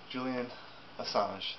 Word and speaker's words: Julian Assange: This is about Julian Assange.